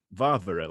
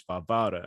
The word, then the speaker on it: Varvara: year old varvara graceover it looks like varvara like you might say barbara and so but it's barbara and so yeah i'll put a big double line underneath the middle syllable and so it's just